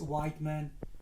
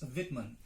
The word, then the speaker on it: Whitman: Some people pronounce it as Whiteman, other people Whitman, but it is neither Whiteman nor Whitman. It is Whitman, born in 1819 and died in 1892.